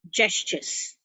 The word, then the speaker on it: gestures: use into his masters the pronunciation is actually j so we say gestures gestures gestures gestures now